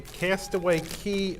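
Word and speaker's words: Castaway Cay: Our next item is a Castaway Key 5K. So, you know, if you pronounced a Castaway K5K, then it would rhyme.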